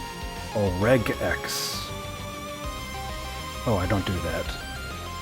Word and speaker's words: regex: The top 3 seem to be rejects, redgex, and regx. Hard G on the last one. My pronunciation is pretty close on those last 2, but I would say I tend to lean towards the last one. I tend to go towards regex. Like an egg.